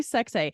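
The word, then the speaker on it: Seksé: It's literally Sexay. And I say it weirdly because it's pronounced, or it's pronounced, it's spelled Sekse, and there's a hyphen over the last E.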